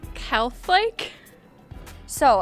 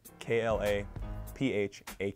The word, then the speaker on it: Klaphake: My last name is spelled K-L-A-P-H-A-K-E and it's pronounced Klaphake. I get Klaphakes a lot. You get a lot of the P-H being F's.